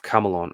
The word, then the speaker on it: Campbell: its later name of Camelon or Camelodunum, the Roman adaptation, was derived from the Campbell clan, formerly pronounced Camel, whose territory in early